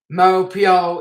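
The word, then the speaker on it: Maupeou: of malpua which is m-a-u-p-e-o-u mo pio in albert jesus and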